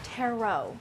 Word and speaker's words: tarot: It's pronounced tarot.